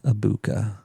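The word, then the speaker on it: Egbuka: G is silent. Amecha Ibuka.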